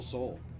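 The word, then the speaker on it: Soule: ball three to Michael Soul. Soul. I'm going to have to remember that. I keep wanting to pronounce the E at the end of his name.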